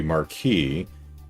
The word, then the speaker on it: Marquis: The original French would be Marquis, and some people say it like that in English. So maybe it's just the Americanized version of the word has a different pronunciation.